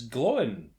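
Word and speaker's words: Glóin: Peter Hambleton as Gloin. Which is definitely not pronounced to rhyme with groin.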